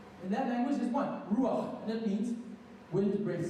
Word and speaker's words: ruach: And the word for spirit, very quickly, is this word called ruach. It's not on the screen, but it's spelled R-U-A-C-H.